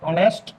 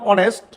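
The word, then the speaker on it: honest: জানি অনেস্ট এইচ ও এন ই এস টি অনেস্ট ম্যান এই শুরুতে আছে এইচ এইচ এর উচ্চারণ কিন্তু হ এইচ কে মনে মনে এইচ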